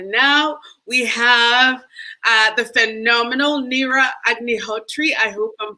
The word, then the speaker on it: Neera Agnihotri: And then next we have, and I'm going to be adding her now, we have the phenomenal Neera Agnihotri. I hope I'm pronouncing that correctly.